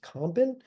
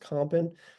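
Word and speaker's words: Campin: known by Art historians more purply as Robert compen it looks like campen but it's pronounced compen this painting is at the metrop Museum of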